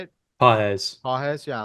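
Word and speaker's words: Pagés: Andy paa is that how you say it pz pz yeah like he's he's been okay um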